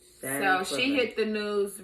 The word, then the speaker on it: Shanquella: Recently, what hit the news is, I don't want to get her name wrong, Quella. I will call her Quella. Shanquella, that was her name. Say her name. Shanquella. Shanquella.